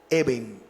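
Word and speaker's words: אבן: Se escribe, o mejor, se pronuncia como Eben.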